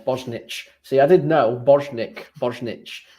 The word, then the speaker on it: Bosnich: I know who it is now, but I can't say it's Bosnic or Bosnich. That's the one, Bosnich.